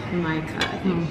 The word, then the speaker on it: jamaica: Jamaica. It kind of sounds like Jamaica the fruit, but it's not. It's Jamaica.